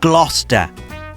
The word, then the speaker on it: Gloucester: pronouncing them for instance this town dear American viewers is inexplicably pronounced Gloucester and I really can't